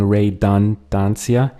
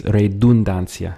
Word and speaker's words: redundancia: This is another one where instead of going redundancia, it's redundancia.